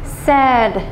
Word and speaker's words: said: Nhá, mình sẽ đọc là say, said, said, said.